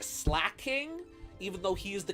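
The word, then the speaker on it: Slaking: I'm slay King slacking that's another Pokemon name that I've always pronounced wrong for some reason I always thought his name was slay King not slack King even though he is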